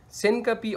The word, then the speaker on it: syncope: Another is syncope. Syncope, or some doctor pronounce it as syncope, it is the temporary